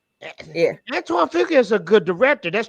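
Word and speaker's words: Antoine Fuqua: Antoine F Antoine Fuka is a good director.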